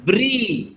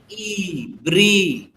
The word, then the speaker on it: Brie: Next चीज का नाम लिखो, ब्री, BRIE, ब्री, BRIE।